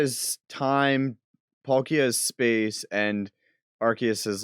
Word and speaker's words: Arceus: don't matter that's fine i figured an e after c makes it a s sound first of all he's